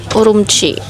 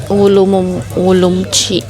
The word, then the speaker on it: Urumqi: So yining to urumchi ulumchi parang ganun yung bigkas nila pero urumchi napakaotic.